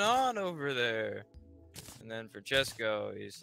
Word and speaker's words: Francesco: I can't roll my R's. Like she does it like five Francesco. Times. Francesco. Bernoulli. No wonder there's a crowd. Hey, why do you say his name? And don't say it like that. It's three syllables, not ten.